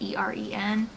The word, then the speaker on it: Eren: I think that's how you say it, E-R-E-N. I'm guessing it's Eren.